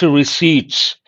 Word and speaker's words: receipt: If you take this particular word, because many of you are prospective bankers, the letter P is silent.